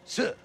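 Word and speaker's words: 四: On account of it's pronounced si, which sounds like the Chinese word for death, si.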